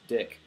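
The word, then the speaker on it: Dieck: is actually a mercenary, named Diek, or alternately pronounced Dick.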